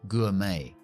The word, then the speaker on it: gourmet: Gourmet. No pronunciamos la T.